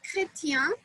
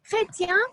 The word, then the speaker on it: chrétien: For example, the word chrétien is Christian in English. And if you deviate a little bit and say crétin, means an idiot. So chrétien, crétin. So you can start a war if you do not have the right pronunciation, right?